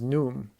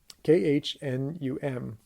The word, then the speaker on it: Khnum: If I'm pronouncing it right, the name is Num, Khnum. And there are various versions of this name, but we'll go with Num for now.